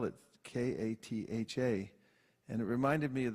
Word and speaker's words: Katha: I said spell it k-a-t-h-a and it reminded me of the way one of my God Brothers I told you is Katha it always sounds to me like a kind of drink and it's like it's